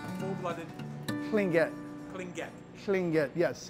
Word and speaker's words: Tlingit: If you mean indigenous person, yes, I'm a full-blooded Tlingit. Full-blooded? Tlingit. Tlingit. Tlingit, yes. How do you spell it?